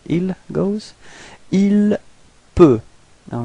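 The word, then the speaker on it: il peut: Ilp. All right. So same way of pronunciation. You've got T at the end, but then you don't pronounce it. Ilp.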